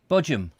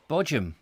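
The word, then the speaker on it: Bodiam: window is it oh so how do you pronounce bodium again bojam yes bojam yes brilliant sussex dialect i've been trying um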